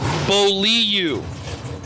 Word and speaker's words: Beaulieu: I got the official pronunciation. J. Beaulieu. It's kind of like Steve Riggins. I'm going to bully you.